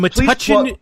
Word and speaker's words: Metuchen: In Metuchen.